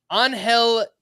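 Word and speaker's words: Ángel: soreness it was let me get this right anhel Chi which is spelled c hi v i l i if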